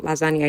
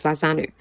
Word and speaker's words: Lazanu: The correct pronunciation of Sera's kingdom is not Lasagna, it's Lazanu.